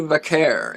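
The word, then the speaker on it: Vaquer: Uh, other vote getters for female wrestler of the year, Charlotte Flair, Saiia Kamitani, and Stephanie Vakair.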